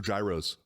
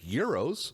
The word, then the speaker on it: gyros: of people saying, yeah, I'm going to go over to Mr. Gyros to get lunch. No, and I'm like, it's- that place doesn't exist. It's Mr. Euros. Yeah. Pronounce it correctly. Euro. What is your problem?